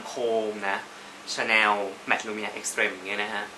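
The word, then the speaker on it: Extrême: Mat Lumia Extrem เนี่ย บาง คน ก็ อ่าน ว่า Extrem Extrem mat luminate extreme อย่าง มุม มี พา เพิน ก็ อ่าน ว่า extreme ซึ่ง ก็ ไป ถาม ที่ เคาน์เตอร์ เขา บอก ว่า อ่าน ว่า extrem ค่ะ อ มัน เป็น ภาษา ฝรั่งเศส you know what ซึ่ง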